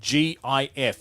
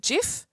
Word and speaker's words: GIF: because The Story Goes they pronounce it gif but the G stands for graphic so therefore it's a good yeah it's a hard G so he my natural enunciation would be GIF you could say because